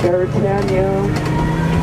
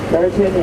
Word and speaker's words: Beretania: Hawaiians could not pronounce some of the vowels that they had, like Beretania. They knew Beretania is Britannia or Britain.